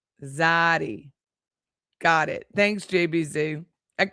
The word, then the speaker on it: zayde: Oh, it's pronounced Zayde. Zayde.